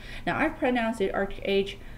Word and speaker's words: ArcheAge: I'll turn out the arc age my boyfriend pronounces it arch age don't kill me potato